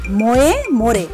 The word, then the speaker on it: Moje more: ময়ে ময়ে লেখা হলেও এর উচ্চারণ ময়ে মোরে।